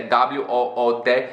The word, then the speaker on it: wood: Por exemplo, a palavra madeira no inglês, que é W-O-O-D, se pronuncia wood.